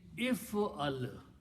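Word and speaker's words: افعل: If the first letter has a sukoon, you cannot pronounce that letter. So in order to help pronounce, we just add an alif in the beginning with a kasra. So this alif is just help to pronounce. So in three letters, the command, if I'm telling you to one person, do, I'm saying if'al.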